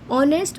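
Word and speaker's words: honest: ऑनेस्ट बोलते time ओ की आवाज़ आ रही है, ऑनेस्ट मैन, तो ओ क्या है, अपने आप में एक वोवल है, इसलिए यहाँ पर मैं एन लगाऊंगी।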